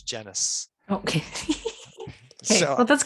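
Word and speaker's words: Genuis: kept saying genius and he's like, it's genus.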